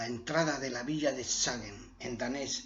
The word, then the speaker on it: Skagen: At the entrance to the village of Skagen (Danish pronunciation: ), a right turn onto a cycle path, also accessible by vehicle, leads to a large park (Tourist Parking).